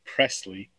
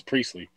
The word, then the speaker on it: Priestley: lovely guest named Liz Presley. I probably pronounced her last name wrong, and I apologize. Like Elvis, but it's not Presley like Elvis. I think it's Priestley. It's Liz Priestley.